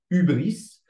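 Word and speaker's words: hybris: un mot grec alors je sais ça s'écrit hybrice mais ça se dit ubris littéralement traduit c'est la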